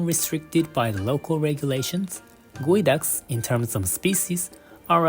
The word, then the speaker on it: geoduck: the Pacific Northwest despite its spelling it is pronounced guu derived from the local Native American word meaning dig deep while the harvest season is often restricted by the local regulations guu in terms of species are available year round